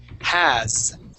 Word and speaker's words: has: that that s now the S is not going to make an S sound it would make more of a z sound has all right so that